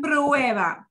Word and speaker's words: prueban: How do you pronounce that, Marilyn, again? Prueban.